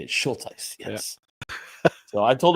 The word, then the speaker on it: Schulteis: Schulteis.